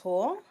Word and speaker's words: Houle: Houle. The way you can remember it is that it rhymes with pool.